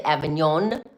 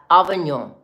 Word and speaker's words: Avignon: Did you see that I did not say Avignon? I said Avignon.